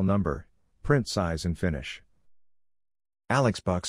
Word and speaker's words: Alex Box: Alex Box Stadium, sometimes pronounced as Alec or Alec Box, was a baseball stadium in Baton Rouge, Louisiana.